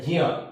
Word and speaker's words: ज्ञ: उसके बाद आता है ज्ञ, इसको बोलते हैं हम ज्ञ भी बोलते हैं, उसको एक्चुअली उच्चारण क्या है, ज्ञ, क्योंकि ज प्लस य प्लस अ, ज्ञ।